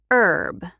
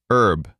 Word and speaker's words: herb: And herb, in American English, the H is silent. herb I added some herb to the soup. In British English, the H is pronounced herb.